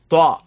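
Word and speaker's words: ط: அடுத்த லெட்டர் பாருங்க, துவா. இந்த துவா உச்சரிப்பு இருக்கு பாத்தீங்களா, இந்த துவா இருக்குது பாத்தீங்களா, துவா வந்து எப்படின்னு சொன்னா ஆங்கிலத்துல THO துவா அது மாதிரி நம்ம பயன்படுத்தலாம் ஆங்கிலத்துல.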